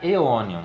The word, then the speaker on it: Aeonium: A gente tem o ditongo AE, que no latim científico tem som de E. Então vai ficar Aeonium.